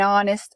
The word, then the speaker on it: honest: owl an apple an honest man notice that in honest the h is silent so we have an ah a vowel sound not an h ha